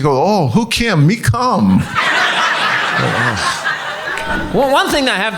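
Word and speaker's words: Kum: But also, like she said, it's Kamok, but all the family members call my mom, it's spelled K-U-M, So everybody calls my mom Cum. That's what she's known as, Cum.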